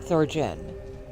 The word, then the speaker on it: Thorgon: Is it a hard G Thorgen or a soft G Thor? Um Thoren.